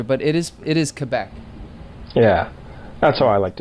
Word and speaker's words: Quebec: I'm just looking at he's from he's from Quebec so BBA oh it's uh I would say